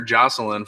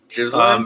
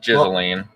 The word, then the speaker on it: Ghislaine: I just found out how to pronounce her name today. Huh. I've been calling her Jocelyn forever. Ghislaine?